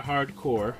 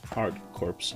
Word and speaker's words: Hard Corps: okay here it is it's Contra hardcore which everybody wants to seems to want to call hard corpse rather there's some debate about it I guess but I